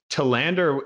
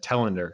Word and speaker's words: Telander: interesting is i've gotten tealander my whole life oh um but tillander is actually a more accurate representation of like the swedish word it's swedish last name